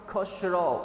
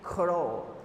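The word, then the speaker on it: Khusro: Uncle का नाम था खुशरो। Okay, we will pronounce the given name as खुशरो, बट the real pronunciation is खुरो। The real pronunciation is just खुरो। Okay, but we'll say खुशरो।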